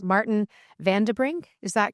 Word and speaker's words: van den Brink: It's Martin Vanderbring.